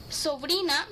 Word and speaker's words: sobrina: would be sobrino sobrino sobrina means nice sounds like sabrina right male cousin would be